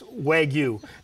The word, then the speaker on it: Wagyu: How do you say Waygu? I pronounce it Waygu. Oh, I pronounce everything wrong. So. Well, it's Waygu.